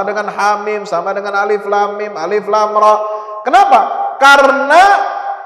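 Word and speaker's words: الم: membaca ejaannya jadi baca Alif Lam Mim Jangan dibaca alam ya Ini bukan alam taro bukan alam nasrh Alif Lam Mim itu cara bacanya baca Yasin bukan Yas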